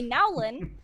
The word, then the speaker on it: Nowlin: Followed closely by Nowlin. Did I pronounce that correctly?